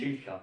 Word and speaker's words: Schilcher: Schilcher. Yeah, I think I've had that before. Yeah. I'm still trying. The pronunciation is so hard for me in Germany.